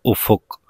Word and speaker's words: افق: آسان ہو جائے گی۔ تو افق کا جو تلفظ ہے وہ الف پر بھی پیش ہے، فے پر بھی پیش ہے، کاف ساکن ہے، تو افق، ٹھیک ہے۔ تو بڑھتے